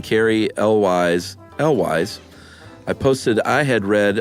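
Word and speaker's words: Cary Elwes: sounds like Elvis, but what I meant to say was it rhymes with Elvis. Is that why you said Carrie Elvis, like on the...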